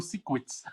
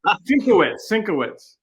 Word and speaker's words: Sienkiewicz: I used to pronounce Bill Sienkiewicz as Bill Siekwitz. Yeah, I did. Sinkovich is what I used to call him. Sinkovich. I call it Siekwitz. Yeah, Sienkiewicz. Yeah, I got lectured early on.